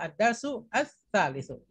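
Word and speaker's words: الدرس الثالث: Perhatikan panjang dan pendeknya dalam membaca bahasa Arab, ya. Jangan baca ad-darsus tsalitsu atau ad-darsus tsalitsu. Itu salah semua. Tapi bacanya ad-darsus tsalitsu. Ya, bacanya adalah ad-darsu ats-tsalitsu.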